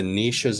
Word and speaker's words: Niches: they parked at the niches entrance. Niches. I keep saying niches because niche is the French way to pronounce it, but niches is the local land trust.